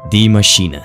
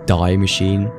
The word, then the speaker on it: Die Maschine: First of all, the map, Die Maschine. For all of you non-German speaking blokes out there, it's not pronounced Die Machine, okay? No one is dying in this title, it's Die.